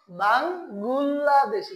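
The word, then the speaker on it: 방글라데시: পরে আবার এটার উচ্চারণটা কি এখন আর ডয়বিন্দ র আর হবে না, কি হয়ে যাবে? ল হয়ে যাবে। তাহলে বাঙ্গুল লাহ। পরে আছে কি দয়কার দে, তালবস্যয় ঋষিকার শি। তাহলে কি হয়ে গেল? বাংলাদেশি।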